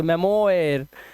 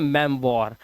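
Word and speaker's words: memoir: क्या पढ़ोगे इसको मेमोरा क्या पढ़ोगे मेमोयर नहीं इसे पढ़ते हैं मेम वॉर ये ओ आई जो होता है ये व बन जाता है मैंने बोला ना तो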